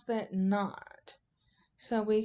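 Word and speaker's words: naught: that looks like a degree symbol and we pronounce that not so we call it Delta G KN Delta H knot and Delta s knot what these little sums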